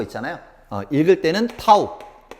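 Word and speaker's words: τ: 읽을 때는 타우. 읽을 때는 타우라고 읽습니다.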